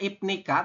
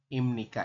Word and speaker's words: 입니까: tulisannya ibnika, tapi nanti Anda membacanya adalah imni. Kak, Nah, betul. Dibacanya adalah imnika, teman-teman.